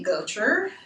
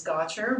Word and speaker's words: Gotcher: my name is gotcher very frequently mispronounced as gotcha but i let it